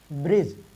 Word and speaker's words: bridge: शब्द में, सॉरी, अंग्रेजी शब्द के अंत में डी के बाद जी ई आता है तो क्या करते हैं जानते हैं, डी का उच्चारण हम नहीं करते हैं, डी का उच्चारण नहीं करते हैं, ठीक।